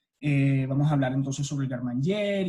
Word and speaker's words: garde-manger: Me gustaría que todos encendieran sus micrófonos un segundo y se repitieran para sí mismos cómo se pronuncia el garde-manger, que viene siendo como gar-manger, ¿sí?